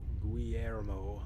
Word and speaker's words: Guillermo: know what del Toro's voice uh sounds like Guillermo Guillermo thank you okay and this is about